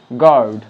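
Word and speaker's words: guard: আর এখানে আমরা ইউ এর যে উচ্চারণ সেটা আমরা পাচ্ছি না, তাই ইউ এখানে সাইলেন্ট, তাই এটাকে আমরা বলবো গেজ, গেস্ট, গিটার, গার্ড।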